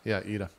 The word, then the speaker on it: Yda: Yeah, Ida.